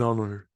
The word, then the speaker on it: honor: An honor, an hour, an honest person. If the H is silent and I'm pronouncing the vowel after that, I'll use an.